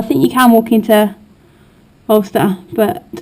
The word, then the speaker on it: Alcester: I've been pronouncing the place Alcester, and I heard some of the kids talking today, I heard them calling it Ulster.